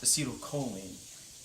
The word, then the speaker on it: acetylcholine: at the axon terminal I believe is pronounced acetylcholine professor Copenhagen this limitation gains